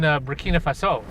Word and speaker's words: Burkina Faso: So you grew up, of course, in Burkina Faso. That's right. Am I saying it right? You got it. Burkina actually. Faso. Yeah, that's French.